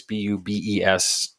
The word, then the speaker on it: Bubes: A place called Booby's Brewery. It's Bubes.